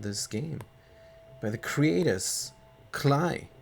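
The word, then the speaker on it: Klei: By the creators, Cly, Rhymes with Play.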